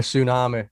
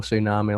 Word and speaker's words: Sunami: you haven't heard a tsunami and it's not spelled the way you actually would normally spell tsunami it's spelt s-u-n a-m-i right scott you haven't got the t and got the t